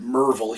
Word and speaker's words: Maryville: my little town of maryville tennessee uh they pronounce it mervil here and uh i 2014 i graduate i'm